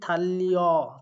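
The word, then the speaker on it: 달력: অর্থাৎ এই তিনটা ক্ষেত্রেই উচ্চারণ হবে লয়ে লয়ে। তো সেই অনুযায়ী থাল্লিয়, থাল্লিয় আর গিউ উঠে যায় গয়েশের গি, থাল্লিয় গি এইও, অর্থাৎ ক্যালেন্ডার।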